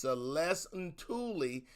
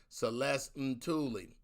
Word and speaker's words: Celeste Ntuli: you're about to see is my homegirl celeste celeste and tully that's how you say her name even though it's spelled n-t-u-l-i you'll see it um it's pronounced celeste and tully my wives i sound like uh i sound